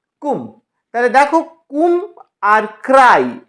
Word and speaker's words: cwm: এবার ডাব্লিউ, দেখো ডাব্লিউ দিয়ে সি ডাব্লিউ এম, উচ্চারণটা হবে কয় হস্যু ম বাংলায় কুম।